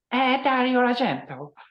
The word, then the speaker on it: Argento: it that's the right way to say it agento so so how exactly did the do do